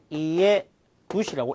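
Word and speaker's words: 家主: 어떤 동물의 주인을 사육주, 이것을 우리가 카이 누시라고 읽을 수가 있습니다. 그 다음에 집주인을 또 이에 누시, 집주인을 이에 누시라고 읽을 수 있습니다.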